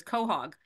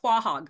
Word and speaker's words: quahog: able to pronounce is cog um he says Quahog I'm like no it's not Quahog it's Cog right to quag sounds it